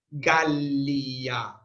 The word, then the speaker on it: Gallia: Gallia, Gallia. La primera es larga porque termina en consonante.